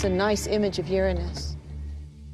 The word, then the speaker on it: Uranus: pronounced the planets name Uranus which is very likely closer to the original pronunciation of the name of the God after Luna was named